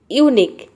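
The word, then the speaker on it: unique: तो देखिए यहाँ पे एग्जाम्पल देखते हैं। यूनिक, यूनिक में आप देख रहे हैं कि QU वर्ड के लास्ट में आ रहा है, तो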